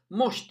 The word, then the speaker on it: مشط: So let us see how you pronounce mush, mush, mush, mosht, mosht. The meme on the red triangle has got Dhamma over it. Mu, mu, mu, sh, mosht, mosht, mosht, mosht.